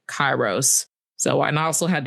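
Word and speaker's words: Kairos: Kronos and Keros, is that how you pronounce that? Chyros.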